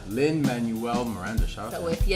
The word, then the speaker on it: Lin-Manuel Miranda: Lin-Manuel Miranda. Lin-Manuel Miranda.